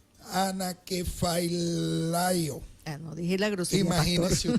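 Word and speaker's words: ἀνακεφαλαιόω: Aquí hay una palabra griega bien interesante, es difícil su pronunciación. Anakephalaio.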